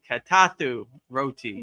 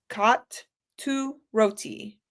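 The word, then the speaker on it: Kotu Roti: Like cat, two. No, right? It's a K-O-T, cot. Oh, cot. Katu. Roti. Katu Roti. Okay, got it. Katu Roti.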